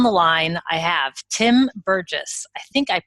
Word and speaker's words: Burgess: and today on the line I have Tim Burgess I think I pronounced that I didn't ask how to pronounce it is it Burgess that's yeah that's correct okay and Tim you're